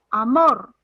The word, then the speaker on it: amor: Si yo digo amor, ¿dónde está la fuerza de voz? Mor. Mor. Mor.